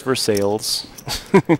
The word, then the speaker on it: Versailles: Spelled like Versailles. pronounced for sales. You know, back in the day, everything was for sale. I think that, you know, a lot of people in rural Missouri just don't understand how to pronounce Versailles.